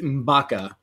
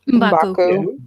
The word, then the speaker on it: M'Baku: And they kind of did the same thing with Manape in this film with M'Baka. Is that how you say his name? M'Baku. M'Baku. Sorry.